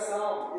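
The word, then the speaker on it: psalm: एस ए एल एम ये हो जाएगा साम इसमें पी भी साइलेंट है और और एलवी से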